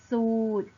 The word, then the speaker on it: สูตร: เลย ใช่ ไหม คะ เรา จะ ไม่ อ่าน ออก เสียง พยัญชนะ รอ เรือ นะ คะ เรา จึง อ่าน คำ เหล่า นี้ ได้ ว่า จาก ท่อ สูตร บุตร และ เพชร นั่น เอง ค่ะ ตั้ง ค่า ต่อ